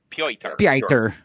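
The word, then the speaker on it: Piotr: Yeah, that's spelled P I O T R. Per.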